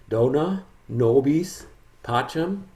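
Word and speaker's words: Dona nobis pacem: different version there is a pronunciation guide dona nobis pacham so that's all detailed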